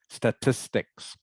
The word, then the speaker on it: statistics: good funglin statistics have to remember to say the S on the end statistics words to describe statistics